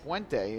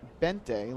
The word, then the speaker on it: Buente: think the pronunciation is buente it's bu u e n n te but it is pronounced bente like the U wasn't there first pitch on the